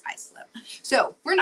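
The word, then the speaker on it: Islip: I pronounced it is one time and then somebody was like, "No, it's Icelip." So, we're in Icelip, New York out on Long Island.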